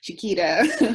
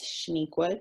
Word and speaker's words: Chenequa: what you want, Chenequa, Chiquita, whatever. No, it's Chenequa, and you're going to say it right.